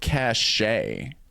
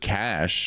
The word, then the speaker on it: cache: I used to always call it cashache when I was young. It's just cash.